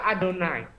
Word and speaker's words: YHWH: Tulisannya tetap YHWH tapi bacanya Adonai. Nggak boleh, bacanya Adonai.